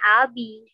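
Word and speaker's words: ağabey: Sebenarnya bukan Abi ya tulisannya. A, B. A, Yumushake, A, B, E, Y. A, B. Tapi orang Turki bilangnya Abi.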